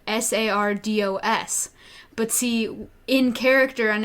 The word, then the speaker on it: Sardo: that Sardo is spelled sa RDOs but see in character on episode 2 I kept saying there's only one Sardo and it's not sourdough sand like this it's